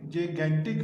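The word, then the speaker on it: gigantic: ये स्टूडेंट जो पहले वाला जी है ये जे की साउंड देगा, और नेक्स्ट वाला जी है वो जी की साउंड देगा। तो जैगेंटिक वेव्स, ये इसकी प्रोनाउंसिएशन होगी।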